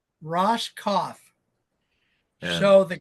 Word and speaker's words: Roskopf: Roskopf. Roskopf. Yeah. So the Q is silent, huh?